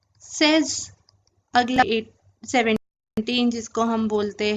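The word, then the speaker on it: seize: अगला है 16, जिसको हम बोलते हैं सेज।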